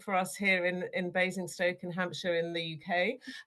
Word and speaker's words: Basingstoke: Is it, how do we say it? Bazing Stoke or Bazing Stoke. You said it right the first time.